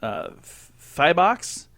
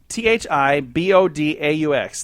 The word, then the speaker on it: Thibodaux: Thiboux? Thibodaux. Thibault, Louisiana. Thibault. Sounds like an exercise.